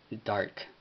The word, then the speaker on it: DARC: Entonces, con el grupo o con la organización DARC, DARC. Bueno, me disculpo porque no sé si es escrito DARCK o DARK. No estoy muy seguro con acerca de cómo se escribe, pero pues se pronuncia DARK.